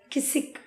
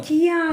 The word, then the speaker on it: Kissik: கிசிக். கிசிக்கியா அது ஒரு சாங். கிசிக்கியா இல்லை, கிசிக்னு KISSIK.